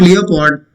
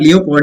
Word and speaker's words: leopard: It is not leopard. Okay, a mammal of what we call cat category. A big cat with fawn brownish skin. Okay, it's not leopard, it's leopard. So O is silent.